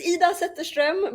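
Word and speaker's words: Zetterström: It's Ida Zetterstrom, but it was kind of close.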